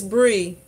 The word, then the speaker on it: Bri: I'm thinking it's Bree, but I know a person, her name is spelled B-R-I, but it's Bree, because her name is Brietta.